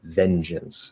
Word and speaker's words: vengeance: yeah so vengeance vengeance so it's a j it's not a good right vengeance a stress is on the first level second syllable is um it could either be an it or an uh vengeance vengeance um it